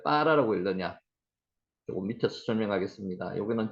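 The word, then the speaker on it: ברא: 이것도 바라라고 읽기보다는 점이 하나 있기 때문에 여기 경강점입니다. 좀 된 소리를 내라는 거죠. 빠라라고 읽습니다.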